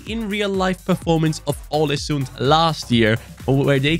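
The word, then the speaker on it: Ålesund: his comment here where he said alesund is pronounced with the norwegian ah later instead of uh so it's all assumed instead of alison so it's all a sun like holland that's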